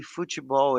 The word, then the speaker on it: futebol: And as I told you before, Gino, it's pretty close to the Brazilian pronunciation of this because they say futebol in Portuguese, you know?